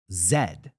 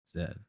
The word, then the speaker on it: zed: Zed. Zed. Which is just the letter Z. But Yeah. That's how you say it in In British. Old English. They still, I mean, even Australia, they say Zed.